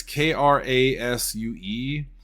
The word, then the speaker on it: Krasue: It says Krasu or Krasu. It's Krasue, but you've definitely seen it before, and don't look